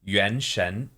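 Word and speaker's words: 原神: it sound Japanese it's definitely like anime aesthetic Yen Shen is Yen is origin or like sort of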